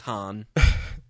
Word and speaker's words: Han: wife, so I mean, you'd think she'd know how to pronounce his name. You'd think he'd correct them too. Like, Right. Guys, it's Han.